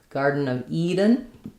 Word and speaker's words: Garden of Eden: So, in Garden of Eden, we pronounce um, we stress mainly on Eden. That's the end of the phrase. Both garden and Eden have the D is a flap. So, it's a nice light touch, not garden.